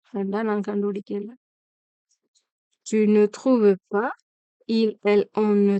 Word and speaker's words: trouves: je trouve தான் சொல்றோம், அதே மாதிரி il trouve தான் சொல்றோம், அதே மாதிரி tu trouves தான் சொல்றோம், அது மாதிரி plurielல சொல்லிக்கலையும் il trouve தான் சொல்றோம்.